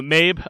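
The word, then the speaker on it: Mebh: movie uh called wolf walkers uh i chose mabe spelled m-e-b-h a very celtic name wait i'm sorry spell that one more time mabe m-e-b-h m-e-b-h okay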